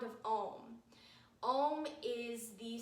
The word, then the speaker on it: Om: chant the sound of ohm ohm is the sound of of everything that is it is ah its consits composed of three syllables ah creation ooh preservation and mmm destruction or return back to